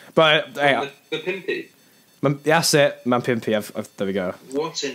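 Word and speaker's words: Mapimpi: That's it, Mampimpy. There we go. What a name! You pronounced it.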